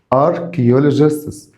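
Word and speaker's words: archaeologists: صارم او حازم اركيلوجستس اركيولوجستس هنا السي اتش هنا السي اتش هنطقها كي هنا السي اتش هنطقها كي اركيولوجستس اركيولوجيستس اللي هم علماء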